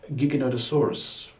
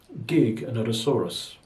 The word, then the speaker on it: Giganotosaurus: name should be pronounced giganotosaurus gig another soros think of it as you say the word gigabyte to mean a bit of data so we've got a